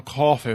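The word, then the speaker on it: Coffey: "John Coffee, ma'am. Like the drink, not spelled the same."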